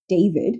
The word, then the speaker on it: d4vd: He is professionally known as D4 VD, pronounced David, which looks simple until you